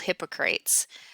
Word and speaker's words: Hippocrates: So um, really, as we look at most of the history, it really starts with a Greek physician called Hippocrates, which was also known as the father, or Hippocrates is probably yet another way you would pronounce that.